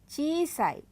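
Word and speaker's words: ちいさい: चीसाई, और यहाँ ध्यान रखिएगा ये ई जो है अलग है। ची ई सा ई।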